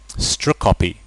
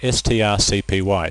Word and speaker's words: strcpy: strcpy. That's how you pronounce that, S-T-R-C-P-Y, strcpy. Or you can say string copy if you like, if you want to be literal about it.